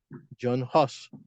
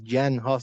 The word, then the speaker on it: Jan Hus: John Hus o Jan Hus, dependiendo de cómo lo quieran pronunciar.